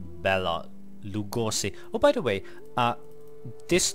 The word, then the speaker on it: Béla Lugosi: So, and then I talked about just an example, the name Béla Lugosi, pronounced like that, which is well, to